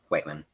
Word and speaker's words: Whiteman: Right, Whiteman.